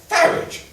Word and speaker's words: Farage: Nigel Farage. Dear, more bottles in the garage. Really don't want to disparage, but you should pronounce it Farage.